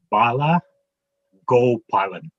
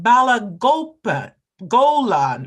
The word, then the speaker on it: Bala Gopalan: Bala Gopalan. That's what I was saying, but the person after me said Bala Golan or something. They skipped a syllable.